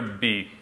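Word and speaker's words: ب: Oh, this is the letter B, B. It's the second letter of the alphabet, just like in English. And it's pronounced like a shorter version of the English letter B.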